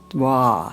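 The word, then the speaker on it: Wah: Wa. It's like W-A-H, and it goes from low to as high as you can go.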